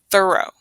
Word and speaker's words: thorough: This is thorough.